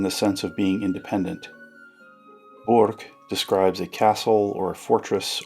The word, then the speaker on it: burg: Notice I'm trying to enunciate burg in the German pronunciation. This is different than the word berg, which indicates a mountain or at least a significant hill.